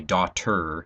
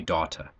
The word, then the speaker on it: doctor: this is the difference between an American accent where we say doctor ER and a British accent where they would maybe say daata and again it just